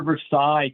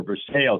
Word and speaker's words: Versailles: This is where Versailles came from, or Versailles, if you prefer to pronounce it that way.